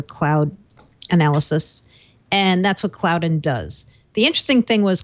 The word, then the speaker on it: Cloudyn: Um This company, I think they pronounce their name Cloudyn, c l c l o u d y n, Cloudyn.